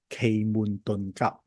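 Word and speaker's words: 奇門遁甲: Type the word me if you heard about a system called Qi Men Dunjia. in Cantonese is pronounced as Kei Mun Ton Kap.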